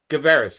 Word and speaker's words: Guevarez: how do you say your last name louis gabaris guevaris yeah yep louis gibberish may i ask your